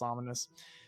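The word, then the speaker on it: Ominis: i s I think but still pronounced ominous but his last name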